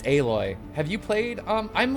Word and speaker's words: Aloy: smaller than she is isn't alloy no it's aloy have you played um